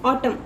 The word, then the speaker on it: autumn: Next is autumn, so autumn में आपका N silent है, so therefore circle N.